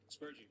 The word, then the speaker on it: Spurgey: Spurgey, is that how you pronounce it? Spurgey.